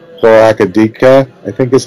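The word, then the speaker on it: Chloracridara: green dragon, I'm going to get it wrong, Chloracadika, I think is how it's pronounced. And she, say it again? Chloracridera?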